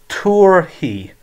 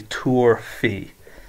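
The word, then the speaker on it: tabharfaidh: So it's tuar hi, or some people would pronounce the F and say tuar fi.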